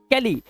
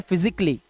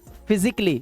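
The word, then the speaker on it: physically: जब आप इस वर्ड को प्रोनाउंस करते हैं तो यहां पर आपको ए साइलेंट रखना होता है और आप इसे पढ़ते हैं फिजिकली। सिर्फ फिजिकली ना कि कली।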